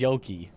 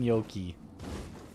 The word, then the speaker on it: Yoki: So, the way it's spelled, that's just Yoki. It's Yoki as I pronounced it.